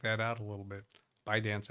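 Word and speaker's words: ByteDance: out a little bit by dance I think is the right pronunciation bite bite dance and bipartisan so Democrats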